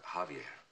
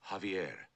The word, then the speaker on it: Javier: Javier. Beg pardon, sir? Javier, not Javier. The J is silent. You pronounce it like a ha.